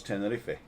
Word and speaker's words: Tenerife: english but in ten in spain we pronounce all the letters so it's tenerife so a lot of